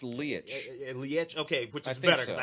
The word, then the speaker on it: Leitch: I've been saying Lech. I think it's Leitch. Leitch? Okay, which is better because I hate it saying, particularly nowadays, Leitch. Yeah, I think it's Leitch. Anyway. So Leitch, okay, who I like